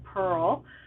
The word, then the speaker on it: Purl: If you go to Petal and Purl, that's spelled P-U-R-L, like pearl as in knit and pearl, .ca, not com, .ca, because I just live outside, I live in BC, Canada.